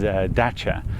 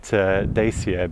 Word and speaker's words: Dacia: uh I know that some pronunciation is daa uh but I've been calling it daier because of James May on Top Gear uh for a while